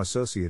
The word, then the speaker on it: associate: is in this case the accent is in the second syllable corresponding to so are other ways to pronounce it now let's see how associate is used in real